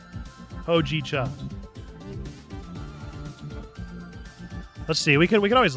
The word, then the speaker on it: Hojicha: Pronunciation is as Hojicha. Hojicha. Long O sound. Hojicha.